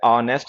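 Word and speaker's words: honest: ऑनेस्ट है, आवर है, एयर है, ऑनररी है, ऑनरेबल है, इनके साथ में एन का यूज क्या करो, क्योंकि एच इन में साइलेंट होता है, ठीक है।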